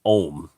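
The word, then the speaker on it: Ogham: it is phonetically spelt ogum even though it's pronounced ohm and she had an irish antiquities person i'll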